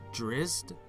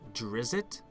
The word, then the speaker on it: Drizzt: asking that last time I've always pronounced it dressed but I heard characters in game pronouncing it Drizzt oh I may be it technically is Drizzt but either way we